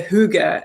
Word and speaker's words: hygge: me how to pronounce Huga because in Danish you say hygge and in Norwegian we say here yeah so there's a